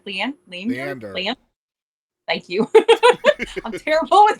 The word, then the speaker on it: Leander: Leander Le Le Leander.